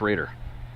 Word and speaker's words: Roeder: Pronounce Raider. Oh, crap. Like the football team.